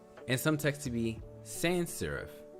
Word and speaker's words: sans: And some text to be sans serif. That's a word in French. It's pronounced sans.